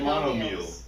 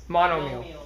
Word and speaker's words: monomial: got it too, You said monomeal. Monomial. Monomial. Mono. Mono. Monom. Monomial. It's pronounced monomial.